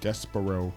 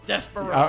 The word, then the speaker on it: Despero: Despero. Desperado. I keep wanting to say Desperado.